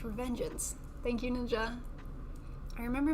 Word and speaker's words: Revengeance: It's pronounced Revengeance.